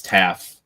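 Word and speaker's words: Taaffe: It looks like it's Taff. All right. T AF is is the pronunciation. Safety Michael Taff.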